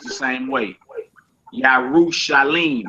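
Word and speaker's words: ירושלים: I know you see that dot underneath that mem. You say Yarushalamim. Lamim, but it ain't pronounced like that. As we keep going in the chapter, you're going to see it's pronounced Yarushalim. It's spelled two different ways, but it's pronounced the same way.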